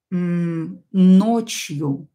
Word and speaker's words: ночью: helping съемка следующее слово ночью ночью уот из ночью ночью пишем ночью ночью ударение на букву о ночью до ночью и